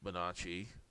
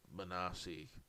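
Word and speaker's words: Bonacci: Uh it should be Manacci, but he pronounced it Manasi.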